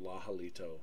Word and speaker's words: lahalito: online came out and he said mahalito lahalito that's a quote so that's how he pronounced it which you know I